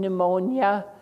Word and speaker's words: pneumonia: We have some very rare letter sound correspondences like MN in mnemonics, PN in pneumonia, and so on.